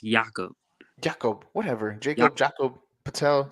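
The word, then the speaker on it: Jakob: free agent next year he's pronounced yaakov Jacob whatever Jacob Jacob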